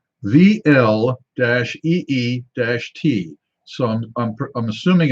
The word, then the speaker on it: Vliet: on this one and they say it is pronounced VL - EEE - T so I'm assuming it's with it with it